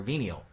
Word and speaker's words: venial: Look again on how to pronounce that. V with the 2E sound. Venial.